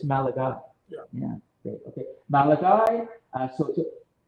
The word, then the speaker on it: Malachi: Malachi, but it's spelled like Malachi, but it's Malachi.